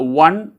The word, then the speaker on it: one: these are all exceptions when we pronounce the one it gives a w kind of sound that so that we